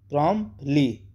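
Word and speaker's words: promptly: फौरन तुरंत बिला तवक प्रमप प्रमप ली टी साइलेंट रहेगा प्रमप ली फौरन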